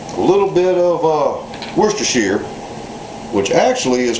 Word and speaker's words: Worcestershire: whole lot but a little bit of uh Worcestershire which actually is pronounced Worchester Shire because it comes from the area of England called Worchester where it was invented back in 1837.